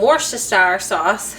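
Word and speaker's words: Worcestershire: diced up onion, some beef beef broth, some worst sour sauce, that's how you say it, and then I don't have cream of mushroom, but you're supposed to use it, I guess.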